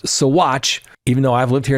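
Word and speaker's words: Saguache: Now, remember that ladies and gentlemen, it's P pronounced Satch even though I've lived here in the state of Colorado.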